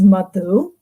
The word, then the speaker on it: Madhu: talking about my name my name is actually correctly pronounced matu but the only people who can say it that way are people from the global south swahili speakers say it perfectly anyone from south asia says